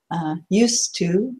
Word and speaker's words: used to: to watch so it's pronunciation wise you don't hear it so it's a simple